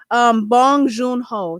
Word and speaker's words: Bong Joon Ho: name is Bong Joon Ho.